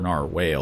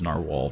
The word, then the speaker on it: narwhal: a particularly aggressive narwhal some men or Nar whale or whatever you want to pronounce it uh pretty sure it's narwal though there's no e uh some men placed